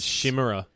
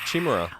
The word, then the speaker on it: Chimera: I always used to thought it was Shimmerer. Oh, really? Oh, that shimmers in Chimera. this world is sure to fade Away again. It's Chimera.